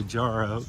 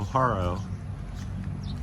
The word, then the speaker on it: Jaro: I always want to say Jaro because they spell it with J, but here in the Philippines it's H, so Haro.